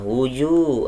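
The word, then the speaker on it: وُجُوهٌ: Wujuh ada waw sukun didahului sama jim harokat dhammah. Hukumnya adalah mad tabi'i, dibaca panjang dua harokat atau satu alif. Wujuh bacanya seperti itu.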